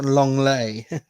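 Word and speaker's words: Lenglet: how was i clemente long lay long leg all right thank you yeah he is french uh yeah off they don't pronounce the t's that much today no absolutely well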